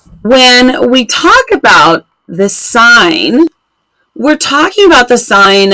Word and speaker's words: sine: if you see this you're gonna say that sign and of course that's not how spine is often spelled but this is how sine is spelled for trig and this is how